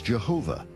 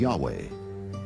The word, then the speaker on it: Yahweh: Many inadvertently referred to the name of God as Jehovah instead of Yahweh, and ironically, the name has stuck.